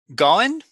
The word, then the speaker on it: Gawan: And let's see, Gowan, I'm not sure if I pronounced your name correctly. It's Gowan, but yes.